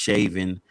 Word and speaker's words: Chauvin: so now the former officer i call him chauvin you know i heard his name pronounced shaven but that's just too close to shay no